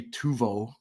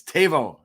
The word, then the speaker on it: Teuvo: And I still want to say Tuvo because that's what it looks like, but it's Teuvo Teravainen.